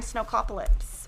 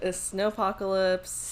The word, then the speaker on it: Snowpocalypse: pre-order date ends, but it came in during snowcopolis, or I don't know how to say it, people. Say it again. The Snowpocalypse.